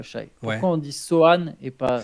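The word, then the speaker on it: Sochan: Pourquoi on dit Sohan et pas Sochaux? Parce que c'est du polonais. C'est un nom de famille polonais et en polonais, on ne prononce pas le C devant le H dans ces circonstances-là.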